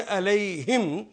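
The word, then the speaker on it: عليهم: लेकिन या की वजह से इसको प्रोनाउंस करेंगे अलैहिम ज़ेर के साथ, ताकि अलैहिम, या के बाद ज़ेर ही आएगी।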